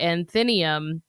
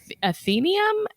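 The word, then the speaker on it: Athenaeum: ghost roams around the anthenium, I think is how I would pronounce that. Uh, athenium. A t h e n a eu m. I think it's athenium. Whatever, guys.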